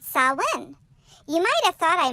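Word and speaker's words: Samhain: ancient Celtic festival called solemn you might have thought I mispronounced it but Solon is a Gaelic word that is spelt nothing like it is pronounced sau-lan is a pagan religious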